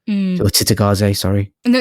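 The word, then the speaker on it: Cittàgazze: of a drain on the world going through Chigadze or Titagaze, sorry.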